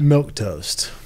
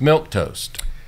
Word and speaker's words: milquetoast: the topic of this show is milk toast milk toast it's milk toast and that's episode 158 of the sales list